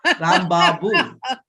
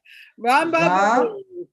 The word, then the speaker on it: Rambabu: Rambabu. Rambabu. Rambabu. Yes, Rambabu. Yeah, I have the pronunciation correct.